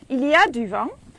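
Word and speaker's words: il y a: ways to say it's windy you can say iliad so duvang is it's making wind uh iliad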